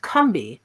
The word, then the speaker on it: Combahee: The group took its name from a local South Carolina river that was actually pronounced Combahee by the indigenous people of the area.